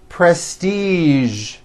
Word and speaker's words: prestige: casual television very good now there are only a few words that have the voiced z sound at the end a few of these words are the color beige the word massage and the word Prestige okay now that you